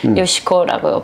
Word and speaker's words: 요시코: 일본식으로 발음할 때는 요시코라고 부릅니다. 그러니까 결국은 제 이름인 거죠. 일본 발음으로 요시코 이렇게. 그럼 이제 일본 분하고 결혼했으니까 시민권이 나와 있어요?